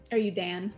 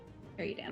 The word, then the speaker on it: Eruda: The Unburnt was burnt alive when he refused to bow before, how do you say this? Eruda? Erudan. Eruda. Erude? Erudan. Like erudite. Erudan. Oh, Erudan.